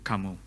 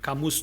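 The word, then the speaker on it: Camus: Kamu ya Kamus tulisannya ya. Kamus tapi Albert Kamu mungkin bacanya ya.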